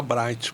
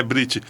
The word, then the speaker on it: Brit: Eu pronunciava errado, você me corrigiu. Eu falava Bright. Por que Bright? Não? É Brit.